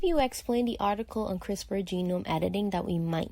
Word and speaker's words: CRISPR: the piece piece is it's pronounced CRISPR not crispies and I just read